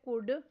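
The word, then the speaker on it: could: Next word है कुड। इसमें silent letter L पर सर्कल करना है।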